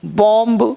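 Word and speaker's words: bomb: सुनिए एम के बाद एम के बाद और टी से पहले टी से पहले बी प्राय साइलेंट राहत है यानी उसे बी का उच्चारण नहीं के बराबर होता है यह बहुत बढ़िया कॉन्सेप्ट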